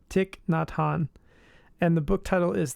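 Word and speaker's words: Thich Nhat Hanh: of the world but I think his name is Tick nonot let me let me look at it said it wrong yep tick not Han and the book title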